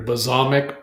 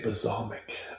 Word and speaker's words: balsamic: Basamic b whatever. You know the thing. Let's see if Google it knows it. How do you say balsamic vinegar?